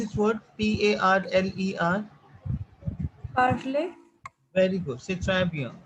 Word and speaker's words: parler: uh, Tanya, how to pronounce this word Parler? Parley.